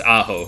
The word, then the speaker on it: Aho: Yeah, it's Aho, but close. You got the harder part is, it is a weird one.